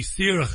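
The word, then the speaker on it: Saoirse: way s is the Irish word for free sir is the way it's pronounced it's Freedom that's the the group it's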